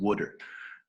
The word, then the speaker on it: wooder: Well, first of all, to Volp, if you're going to coach in Philly, it's pronounced Wooder.